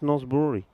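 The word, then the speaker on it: Norsborg: spelled but it's pronounced north brewery yeah you don't really yeah you don't say the g the same way you're right it's about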